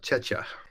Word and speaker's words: Czechia: And thank you for the correct pronunciation, Vladena, on Czechia.